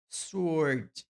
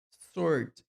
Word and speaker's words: sword: a gente não fala sword. Não é sword, mas sword. É como se fosse apenas um O. Sword. Não tem o W na pronúncia, então é sword.